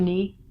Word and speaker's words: knee: your thigh to your calf is called your knee got a foot here so the joint that